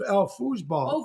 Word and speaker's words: Foosball: Foosball pronounced. Foosball. Oh, foos. Okay. That's how you pronounce.